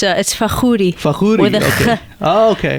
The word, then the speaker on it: Fakhoury: How do you pronounce it? I always butcher my guest's name. No, you're fine. It's Fakhoury.